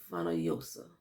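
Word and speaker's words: Fonollosa: No, Fanalosa? Fanalosa. This is 2 L's. And in Spanish Castellano, 2 L's. This is a Y. So it was Andrea de Fanoyosa.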